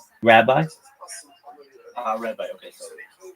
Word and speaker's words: Rabbi: How is your name pronounced? Like Ravi or Rabbi? Rabbi.